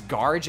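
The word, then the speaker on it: Gharj: pronounce this one right g h a r J's G it's garge is that the correct pronunciation yeah all right good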